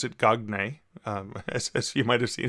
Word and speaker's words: Marcel Gagné: And I didn't pronounce it Gagné, as you might have seen if you see the name.